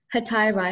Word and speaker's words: hetairai: Hetairai, am I saying the word correctly? Yes, that sounds right.